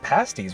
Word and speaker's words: pasties: come here if you're visiting vegas they it's pronounced pasties right yeah so they serve pasties which are like really intense hot pockets and